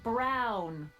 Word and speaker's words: Brown: to a t that's EMT Brown rhymes with clown which I'm beginning to